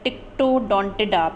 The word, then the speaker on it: Ptyctodontida: इसकी स्पेलिंग में ध्यान रखिएगा टिक्टोडोंटिडा में, कि इसमें पी साइलेंट होता है. वी डोंट मतलब प्रोनाउंस करने में हम पी नहीं बोलते हैं, टिक्टोडोंटिडा बोलते हैं.